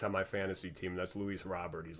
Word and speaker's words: Luis Robert: on the socks on my fantasy team that's Luis Robert he's like the only player worth a damn